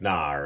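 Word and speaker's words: 哪儿: You'll notice with our tone markers, this is a falling and rising tone, and the comes from this character here. So it's nar, and this second one is nar.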